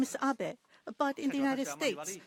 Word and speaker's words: Abe: house my name is Abbot but in the United favor some people mistakenly pronounce my name is ape but that is not